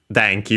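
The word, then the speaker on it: 電気: Denki, we have already seen it thanks to this very series. Accent on the first Mora, one of those Chinese compounds, electricity.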